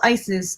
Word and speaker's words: Isis: Oset is her original pronunciation of her name.